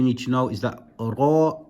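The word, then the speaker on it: راء: For now, all you need to know is that ra is pronounced with a full mouth.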